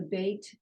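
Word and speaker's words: בּ: over here the way the bait is B VAP is V gimel good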